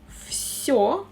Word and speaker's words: Всё: «Всё» we pronounce «в» like «ф».